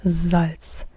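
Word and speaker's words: Salz: salty salt does so not salt but zal not s but z z this is the main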